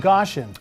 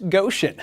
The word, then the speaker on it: Goshen: fashion trend coming out of the land of Gaussian oh my gosh Ian it's pronounced Goshen that's what I said those stories and more